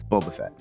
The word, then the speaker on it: Boba Fett: the Mandalorian I also watched season one of Boba Fett okay is that how you pronounce it yeah I don't know who that